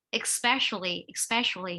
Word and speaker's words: especially: Thứ hai là cái từ này người ta đọc là especially nhá, không phải là như các em nói cái từ gì gì đấy.